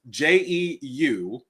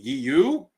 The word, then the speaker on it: Jeu: It's Jeu. And so you either say it by saying Yu, if you want to be more faithful to the Hebrew language, or you say the